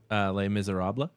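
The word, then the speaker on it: Les Misérables: How do you pronounce the entire name, Dave? Les Miserables.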